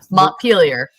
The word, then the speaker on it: Montpelier: I totally mispronounced this name earlier, but Montpelier.